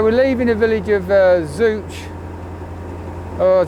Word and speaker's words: Zouch: So we're leaving the village of Zouch. Or how do they pronounce it, the locals? I can't remember now. Zoch. As in Ashbydilla Zouch, but Zoch, the locals call it.